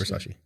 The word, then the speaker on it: Versace: Yes, it's Versace.